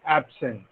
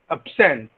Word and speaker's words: absent: adjective to verb, like absent. Absent is an adjective when there is a stress on the first syllable, and absent, sent, absent, when the stress is on the second syllable, it becomes a verb.